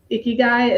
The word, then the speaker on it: ikigai: um, ikigai, is that how we say it? You spell it I-K, Ikigai, Ikigai. Okay, good.